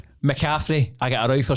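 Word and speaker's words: McCaffrey: I've I've always just thought it was Christian McCaffy. And I actually looked at I was like, that is Macaffrey.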